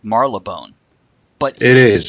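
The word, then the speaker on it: Marylebone: Here's Mary LeBone. Oh. Now, I'm sure it's actually pronounced like Marlebone.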